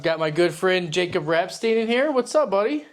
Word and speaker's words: Rapstine: Rapstine. Rapstine. On the boat, it was Rapstine. When we came from Poland, it was Rabstyn.